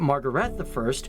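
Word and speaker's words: Margrethe I: probably mention Margaret I, or as the Danish pronounce it, Margaret I, who was the first female monarch for the country.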